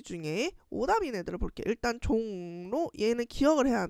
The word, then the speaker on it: 종로: 일단 종로 얘는 기억을 해야 돼. 종로 선생님이 지금 발음하고 있는 거 잘 들리나요?이 녀석은요? 종로 니은 발음을 하는 비음화가 일어나는 얘 기억을 해야 되고 그럼 3번에도 자연스럽게 종로 있으니까 3번 일단 제낄게요.